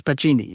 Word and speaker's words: Pacini: Pachini, you say his name was Pacini?